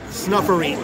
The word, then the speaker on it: Snuffereet: It is Snuffery, S-N-U-F-F. E-R-E-E-T. Snuff, like S-N-U-F-F. E-R-E-E-T. Snuffereet. I'll spell it for you.